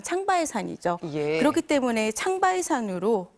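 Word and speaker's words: 长白山: 때문에 중국이 신청했기 때문에 중국의 명칭인 장백산 그니까 중국식 발음으로 하면 창바 산이죠 그렇기 때문에 창바 산으로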